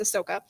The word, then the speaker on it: Ahsoka: So the first thing we have is that Ahsoka, which is how you pronounce it, Mike. It's Ahsoka. Will become The H is silent.